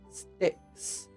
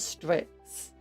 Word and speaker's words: Strix: Sticks. I said sticks that time, not Strix.